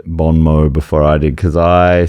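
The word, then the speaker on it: bon mot: Yeah, I just All right, that makes sense that it is silent. I'm so glad you said it. Bon Mo.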